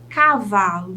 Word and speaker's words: cavalo: não é mesmo vamos conferir então lâmpada lã cavalo vá Leão ão cenoura nou borboleta ler e